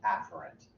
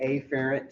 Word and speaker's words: afferent: you might have said, afferent. I say afferent, so you cannot miss that it starts with the -a.